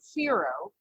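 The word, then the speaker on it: Whiro: a little because it it's spelled wh i r o but it is pronounced like fear FOH and it's named as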